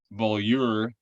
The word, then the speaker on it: Beaulieu: to bring him here his name is murray bullier and uh murray please welcome to the show